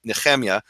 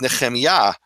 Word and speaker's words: Nehemiah: And my name, properly, people call me Nehemia. That's actually an Eastern European pronunciation of my name. The proper Hebrew, undisputable, my name is Nehemiah. And I only had one professor who ever called me Nehemiah. He was, a stickler for biblical Hebrew. And why is it Yah and not Nehemiah? Because Yah is the emphasized syllable.